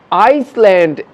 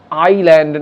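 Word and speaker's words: island: আইসল্যান্ড, এস উচ্চারণ হবে না কারণ এটা সাইলেন্ট রয়েছে, তাই এটাকে বলবো আমরা আইল্যান্ড, নট আইসল্যান্ড।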